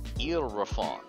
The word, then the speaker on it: Ylraphon: YLRAPHON. Like the word eel. YLRAPHON.